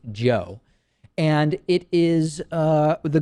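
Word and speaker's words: Jio: out a service called reliance geo i think that's how it's pronounced j-i-o maybe it's reliance joe and it is uh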